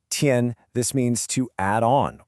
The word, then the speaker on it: 添: Pronounced tien.